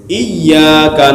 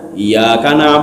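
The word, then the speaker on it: إِيَّاكَ: hantu satu komponen mah Jadi kalau hilang satu huruf hilang semuanya hatinya bukan hilang semua tidak ada faedahnya lagi contoh gini iyyaka na'budu wa iyyaka nasta'in kita bacanya Iya Kana budu wa iyyaka nasta'in Jember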